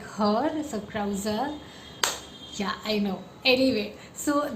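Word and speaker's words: Krauze: pronounce his surname, and we got the official pronunciation. So yeah, it's Gabriel Krause, like the like her, so Krause.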